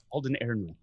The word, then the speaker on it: Alden Ehrenreich: Yes, Alden Ehrenreich.